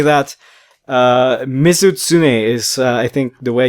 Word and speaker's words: Mizutsune: His name is Mizutsune, if I remember correctly.